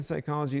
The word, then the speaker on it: psychology: The P in psychology is silent because the word is derived from the Greek.